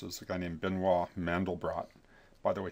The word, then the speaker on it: Mandelbrot: a guy named benoa mandelbrot by the way he actually does pronounce the T on his name even though it doesn't doesn't follow normal French pronunciation there but benois mandal